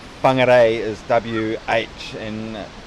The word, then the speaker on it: Whangarei: Whoever's not from New Zealand and you're seeing us saying these words like Whangarei and Whakatane, anything with a WH in the Maori language is pronounced as an F, like Whangarei is WH and Whakatane also WH.